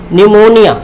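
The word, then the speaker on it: pneumonia: यह साले को है है तो क्या जाएगा निमोनिया निमोनिया मतलब क्या होता है निमोनिया क्या होता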